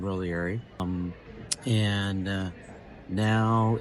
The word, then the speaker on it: Roglieri: So, all in all, an incredible uh ending to Chris Roieri or Roiieri, however you pronounce it. She pronounced it both ways in quote today. So, I don't feel bad. She said Rogly and Roiieri.